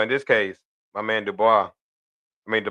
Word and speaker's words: Dubois: Well, in this case, my man Dubois, I mean the Bose, excuse me. I mean, Dubois, I said it right.